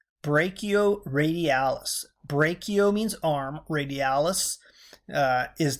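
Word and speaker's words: brachioradialis: I ask pronounced this is a tough one pronounced brachial radialis brachio means arm radialis is that bone that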